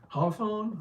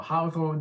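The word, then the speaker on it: hawthorn: least you can see it is called hathon or howon depending on your accent and then from there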